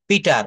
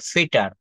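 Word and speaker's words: Peter: পিটার এই শব্দটা আমরা কি উচ্চারণ করি? আমরা এটা বলে থাকি। কিন্তু পিটার কিন্তু আসলে কি এটা পিটার হবে? এটা উচ্চারণটা হবে পকে ফতে হবে। ফিটার ফিটার ফিটার। আসলে কিন্তু এটাকে পি বলা যাবে না।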